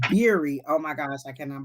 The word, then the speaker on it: Beery: Beery or her last Beery, like beer, like beer like a with beer. Okay, so I kept saying Berry. It's Beery.